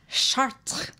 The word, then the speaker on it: Chartres: How is it pronounced? Chartres.